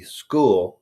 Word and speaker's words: Skool: Carnivore Without the Crazy on the school platform, which is spelled SKOOL.